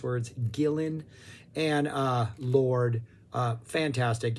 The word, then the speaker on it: Gillan: d purple lineup uh Blackmore Glover Pace Gillian Gillan Gillen Gillan I always pronounce that wrong and I always get corrected in the comments I am sorry us Americans do not know how to pronounce words Gillan and uh Lord uh fantastic yeah there's like